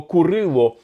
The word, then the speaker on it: Курило: Справа в тому що саме для української мови характерна вимова Курило не Кирило а Курило в тому числі і